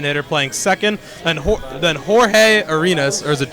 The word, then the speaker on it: Jorge: Then Jorge Arenas, or is it George Arenas? I'm sorry. Batting 8th, playing 3rd. He spells it Jorge. He pronounces it George.